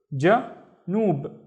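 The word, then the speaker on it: جنوب: And then a ba with no vowels is just noob, noob, ja, noob, janoob.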